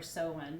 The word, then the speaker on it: Samhain: september 21st and then samhain or so when depending on how you pronounce it is the third harvest